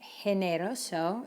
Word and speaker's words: generoso: or the letter e how do you think you pronounce this word if you were thinking generoso you're right so careful because we